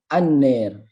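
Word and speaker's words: النار: Contoh seperti lafad kalau pembacaan ro di dalam ro yang diimalahkan itu lafad annar, itu kita bisa membacanya menjadi anner ya. Annar menjadi anner, jadi panjang.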